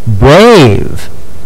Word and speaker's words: brave: But Buddy E over here is silent. He's just there to encourage Mr. A to say his name, like in eight, brave, and gate.